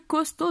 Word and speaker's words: costaud: Grand no se pronuncia la D, gros no se pronuncia la S, fort no se pronuncia la T, costaud no se pronuncia la D.